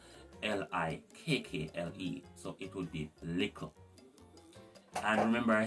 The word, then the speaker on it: lickle: For example, in the word little, it would be lickle instead of little. Instead of L-I-T-T-E-R, we would have L-I-K-K-L-E. So it would be lickle.